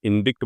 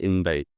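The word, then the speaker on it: indict: हम इसको इनिक्ट बोलते हैं बहुत बार। लेकिन इसकी प्रोनंसिएशन क्या होता है? इनडाइट।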